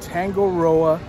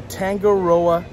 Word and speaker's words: Tangaroa: special place for breakfast and that is the tango roa terrace i finally said it right had had many outtakes to get that right but the tangaroa terrace so join us today as we have